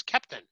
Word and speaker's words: Keptn: CNC a sandbox is Captain pronounce sort of like Captain but with an accent and our speaker today